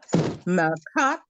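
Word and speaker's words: מלכת: Malkat Elohim. And you said that with a T at the end, right?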